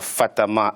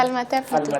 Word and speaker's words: Falmata: Et nous a rejoint Mme Fatama. Vous êtes juriste de formation. Pardon, j'ai mal prononcé, j'ai écorché votre nom. C'est Falmata.